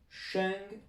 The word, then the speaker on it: 生: Vous avez le sheng ici, parce que ce caractère a comme prononciation sheng, quand il est tout seul bien sûr.